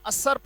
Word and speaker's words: usurp: है कब्जा कर लेना, USURP। क्या पढ़ा जाएगा, असर्प पढ़ा जाएगा। इसका उच्चारण है असर्प, असर्पेशन, असर्प।